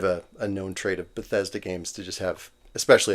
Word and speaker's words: Bethesda: And even even like and I've played other I'm going to screw up the pronunciation always. Bethod Bethesda.